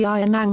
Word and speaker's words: ng: The genitive marker NG and the plural marker MGA are abbreviations that are pronounced nang and manga.